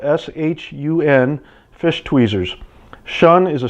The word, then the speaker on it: Shun: specialty cookware store and get one these are Sean that's spelled s-h-u-n fish tweezers shun is a super high quality